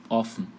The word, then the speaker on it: offen: Vogal antes de consoante dupla, a vogal é aberta e curta.